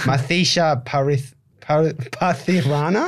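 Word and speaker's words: Matheesha Pathirana: Also, just a shout out to I don't know if I'm pronouncing this. That's right. Mathisha Pathirana, I think. Is that how you pronounce it? No, I think you've done it.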